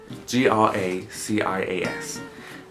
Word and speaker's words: gracias: And when you have a C-I sound, or C-E or Z sound, you always pronounce it T-H in like English. So when in English you have the, there, there are, etc. In Spanish you'd say the, so gracias.